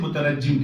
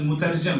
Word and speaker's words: مترجم: بات کہنے لگا ہوں، اسی طرح مصحف قرآن پاک پہ لکھے لفظ مترجم کو لوگ بڑی شان سے مترجم کہتے ہیں، سنا ہوگا آپ نے، یہ لفظ مترجم ہے۔ دونوں مثالوں میں کلمات